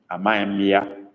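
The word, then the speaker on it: amaghịm: You write Amaim, Amaimia. Amaim is spelled Amaghi with dot under the I, then followed by M, Amaim or Amaimia.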